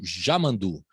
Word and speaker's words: Yamandu: É só uma questão, porque o Y lá na fronteira, né, com o Uruguai, as pessoas chamam de já, né?